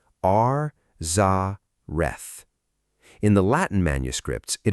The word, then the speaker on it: Arzareth: And the name of that region, the text says, is Arzerth. Arzerth. Say it slowly. Ar Zarth.